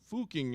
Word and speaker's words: Fucking: It's pronounced Fuking in German.